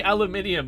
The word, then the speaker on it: aluminium: aluminium yes grimace says why are you saying aluminium you're not british um i don't know i find the pronunciation amusing it's actually as a child it